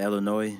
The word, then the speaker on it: Illinois: all the way from Illinois to Mississippi are you guys happy now that I said Illinois and I didn't pronounce the S the last video they